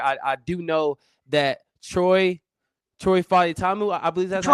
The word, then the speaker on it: Fautanu: I do know that Troy Fautanu, I believe that's Troy how you pronounce it. Fautanu.